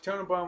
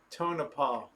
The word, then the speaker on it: Tonopah: a wonderful one yep rosemon go back to turn upon wanna pronounce its Tonopah got the bald mustangs are down there we